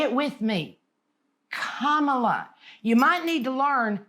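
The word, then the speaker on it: Kamala: Lotus really yeah and if you have a problem pronouncing it you know basically you just say comma and L add an L A so it's comma but I can tell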